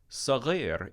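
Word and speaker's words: صغير: Saghir is also a word that American students have a consistent problem mispronouncing. So listen to it carefully. Saghir. There's not an extra R in there.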